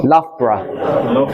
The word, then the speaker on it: Loughborough: I don't know how to pronounce his name. No? Loughborough.